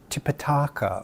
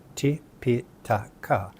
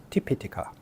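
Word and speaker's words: Tipiṭaka: is often mistranslated as Tipitaka or Tripitaka. Once again, mistaking a short vowel for a long vowel. The correct pronunciation would be Tipitaka, Tipitaka.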